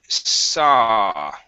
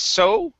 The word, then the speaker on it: saw: go to the word saw okay instead of so with an U it's saw and saw the $1,000 okay